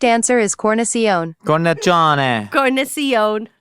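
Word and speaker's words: cornicione: The correct answer is cornion. Corn. Corn. It's pronounced corn john.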